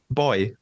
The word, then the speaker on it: buoy: that we pronounce it boy like as as in the exact same as the word b-o-y like girl and boy so every I don't